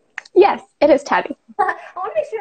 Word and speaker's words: Tabi: It is Tabi, right? Yes, it is Tabi. I want to make sure I was pronouncing it correctly.